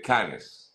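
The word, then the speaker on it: Cannes: Google Translator y efectivamente se pronuncia can Entonces te hago la misma invitación para que revises y y lo pronunciemos correctamente no no Yo también de verdad Yo decía pensé que era el festival de can no el festival de can el festival de Canes En todo caso como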